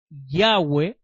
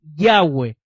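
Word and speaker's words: Yahweh: hebreo o hebreo araico la bab se pronuncia como u y no como B la letra W es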